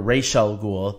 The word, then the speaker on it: Ra's al Ghul: a little bit with the Ra's al Ghul or Rachele Ghul this show seems to be pronouncing his name the right way Rachele Ghul showing him